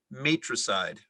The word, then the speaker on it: matricide: murder of his father there is an alternate pronunciation matricide matricide matricide am i pronouncing it correctly yes